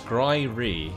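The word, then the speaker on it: Skryre: Valerian says it's Skryri. Skryri. Okay. Skryri. Cool. Cheers. How we pronounce that?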